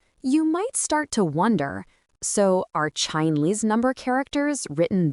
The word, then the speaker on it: 四: It's pronounced S. In modern Chinese, S simply means the number four.